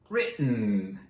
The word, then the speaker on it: written: No T's pronounced. No real T's. Just that glottal stop.